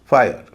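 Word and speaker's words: fire: होता है य जैसे एच आई आरई इसका उच्चारण है हाईयर इसी तरह एफ आई आरई फायर टी वाई आरई tyre रिटायर आई का एक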